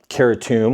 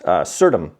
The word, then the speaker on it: Certum: I'm not sure why or how they got that pronunciation Certum because if you look up the word Certum or c e r tu m, it's Latin for certain. And the pronunciation is Certum.